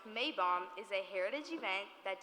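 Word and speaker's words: Maibaum: Fest Sophie schnare okay the mapole in German pronounced May bomb is a Heritage event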